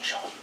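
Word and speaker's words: shone: its setting I'm sorry I didn't say shown I know you Americans say shown but I like saying Sean Sean over at its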